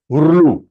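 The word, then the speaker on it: ऌ: दे रहा है ना, that is हुरलू, हुरलू, इट is sounded as हुरलू, LRU आप बोला हुरलू, ओके.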